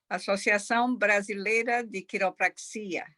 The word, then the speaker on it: Associação Brasileira de Quiropraxia: How do you pronounce that? Associação Brasileira de Quiropraxia.